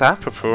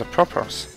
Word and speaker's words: apropos: Oh, it's pronounced apropos. I thought it was apropos.